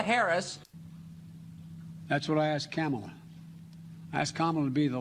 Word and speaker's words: Kamala: um hosts on fox her name is pronounced comma like the punctuation mark look kamala okay seriously i've heard